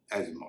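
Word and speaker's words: asthma: teach काचन नहीं होता यह है एस्मा या एजमा स्पेलिंग आप स्क्रीन पर देख रहे होंगे इसे आमतौर पर लोग अस्थमा कते लेकिन इस शब्द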